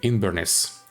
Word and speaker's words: Inbhir Nis: be in veress but I decided to use the old gelic pronunciation so we are going to play in inness obviously our ruler will